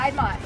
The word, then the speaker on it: Piedmont: Hey guys, we are at Piedmont Park in Atlanta, Georgia. Is that how you say it? Yeah, Atlanta. Yes. No, Piedmont.